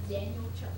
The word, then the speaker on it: Daniluk: versus dark skin daniluk did I get it say it Daniel Chuck Daniel Chuck it's just exactly as it's spelled you're trying to change